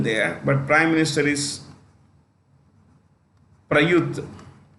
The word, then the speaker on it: Prayuth: but prime minister is prayuth c-h-a-n hyphen or hyphen cha you can say pradeuth also both are fine indonesia jokovido maldives ibrahim